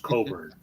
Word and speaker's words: Cockburn: very cool stuff Bruce Coburn right yeah yeah yeah it's spelled cockburn but is pronounced Coburn I'm not writing cockburn